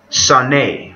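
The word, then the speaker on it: שנא: It's H8130, Sane, or it's spelled like sane, S-A-N-E, Sane.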